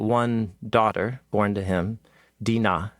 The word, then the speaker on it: Dinah: daughter born to him, Dinah, is how you say her name in Hebrew, or Dinah.